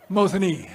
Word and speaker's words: Mosinee: said how do you say Mosinee I'm like Mosinee right but these liberals they think they're gonna